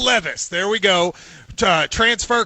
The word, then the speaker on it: Levis: pronounced three different ways tell me how to say your last name a hundred percent correctly it's levis will levis there we go uh